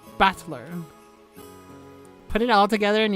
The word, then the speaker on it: Battler: far the problem is my own name is made up of the characters for fight in person and it's pronounced battler put it all together